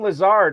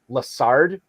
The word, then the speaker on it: Lazard: he talks about alan lazard he always pronounces his last name lasard instead of lazar and i always think